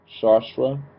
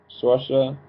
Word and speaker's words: Saoirse: Her name is, of course, Melanie, but this is played by, I want to say it right, Shashra. I don't think I said it right. I keep on messing up names. Saoirse.